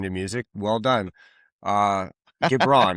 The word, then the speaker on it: Gibran: Uh, Gibran, right? Am I pronouncing it right? Yep, Gibran?